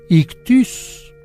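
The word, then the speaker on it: ἰχθύς: Pero bueno pes en griego se dice ictus ictus se escribe ictis y fíjese que los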